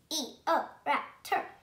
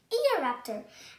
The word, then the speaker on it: Eoraptor: I'm going to tell you how to pronounce it. Eoraptor. Eoraptor.